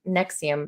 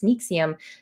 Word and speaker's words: NXIVM: I was thinking it was Nexium, but it's Nixium spelled with a V.